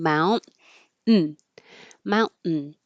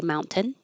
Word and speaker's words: mountain: and mountain do mountain is usually with the salabic in mount n mountain but you can also say mountain and it's not wrong it's just very correct and a little less common for American English speakers and adamatic we did